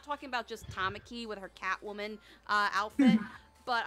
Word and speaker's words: Tamaki: I think Tanaki, right? That's how you pronounce her name? Tamaki. Tamaki, excuse me.